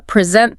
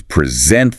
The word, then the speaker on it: present: Think about words spelled the same but with different stress. Like, uh, present the noun, a gift, versus present the verb, to give something.